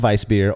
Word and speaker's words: Weissbier: Same thing with Weissbier or Hefeweizen. The V in Germany or the W in Germany makes more of a V sound.